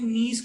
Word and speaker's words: Nice: Search करने के लिए क्लास का सिस्टम होता है जिसको बोलते हैं नीस क्लासिफिकेशन, NICE. उसको प्रोनाउंसिएशन जो होता है उसका नीस होता है, नीस क्लासिफिकेशन.